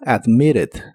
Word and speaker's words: admitted: de agregarle otras letras en inglés americano suelen pronunciar la doble t de esta palabra como r Así que suena como admitted admitted y la puedes usar